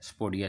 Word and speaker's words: sapodilla: इसकी स्पेलिंग अगर किए जाए तो उसमें स्पोडिलिया कहा जाता है, लेकिन एल साइलेंट होता है, स्पोडिया से कहते हैं।